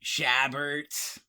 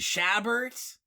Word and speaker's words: Chabert: I always mangle them I believe the T is silent but anyway that's I don't know okay it's like a Herbert Herbert thing yes except if it's